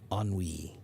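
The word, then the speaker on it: ennui: That's tiredness caused by boredom is on wei. Okay. And but it's a weird word cuz look how it's spelled. E N UI. Why is it pronounced that way? Because it's a French word, right?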